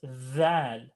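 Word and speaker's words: ذال: Now the way you're going to pronounce val, okay? It's kind of in between the letter D and Z, kind of.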